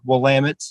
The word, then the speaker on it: Willamette: Then the next night we're moving up to Willamette. I think I'm pronouncing that correctly.